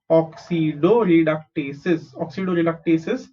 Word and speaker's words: oxidoreductases: OX is oxy, DO is do, RE is re, DUC is duck, TA is te, SES is cis. Okay, oxidoreductases, transferases, hydrolases, lysases, isomerases, ligases, etc.